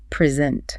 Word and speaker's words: present: The stress moves. Present. Present. The pitch goes up on the second syllable.